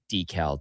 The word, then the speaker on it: decal: Well, you got a new decal to get. And yes, I am saying decal deliberately cuz that's how it's properly pronounced. It's not deckle?